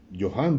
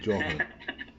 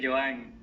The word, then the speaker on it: Johan: Oh, Iván Profe, el primero que lo pronuncia bien, pero Johan. porque todo el mundo me dice Joan. Johan. Claro, si pones la J en inglés, tienes que poner la H en inglés también, ¿no?